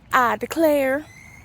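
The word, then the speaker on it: Ida Claire: It's spelled Ida and then Claire, but it's I Declare.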